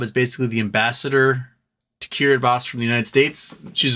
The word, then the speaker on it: Kiribati: So yeah, this is the coral inside Kiribati. So you're looking at the coral inside of the lagoon. It's pretty crazy looking. Pretty crazy looking indeed. And it's spelled Kiribati, but it's actually pronounced Kiribati.